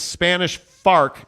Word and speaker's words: Spanish Fork: uh Jeremy Bolton says it's Spanish farc say it right yes my bad right Spanish bark right yep the Spanish Fork American Fark yeah I do like